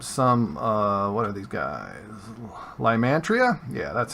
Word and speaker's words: Lymantria: Lymantria?